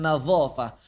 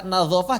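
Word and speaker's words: نظافة: Misalnya kata nadharah dan nadhafah Betapa banyak pengajar Al-Quran hari ini, pengajar ya, bukan muridnya, yang baca nazofah jadi apa? Nazofah. Nazoroh jadi nazoroh. Itu salah.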